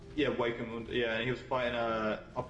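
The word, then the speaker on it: Hueco Mundo: Waco Mundo. The H is silent. Yeah, Waco Mundo.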